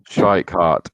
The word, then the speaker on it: Schweikart: How do you say it? Schweikart, I think. Schweikart, yes.